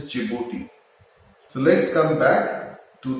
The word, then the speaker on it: Djibouti: This is Eritrea, and a country that starts with D but it is silent is Djibouti.